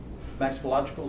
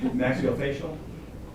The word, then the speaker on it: maxillofacial: Yes, this, can't really read it from here, but that's the oral and, maxillological surgery center. I butchered that one pretty bad, sorry. Maxillofacial? Close enough. Close enough? Maxillofacial. I'll move on.